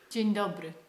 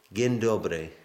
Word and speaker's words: Dzień dobry: Dzień dobry. Again? Dzień dobry. Gin? Dzień dobry. Gin dobry.